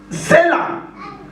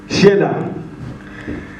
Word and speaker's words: Shelah: I call it Selah. I don't know how you pronounce it. How do you pronounce it, Elder? Sheila. Shelah.